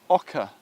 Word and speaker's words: oca: my favorite perennial vegetables is Oka OCA is how it's spelled so it's we've just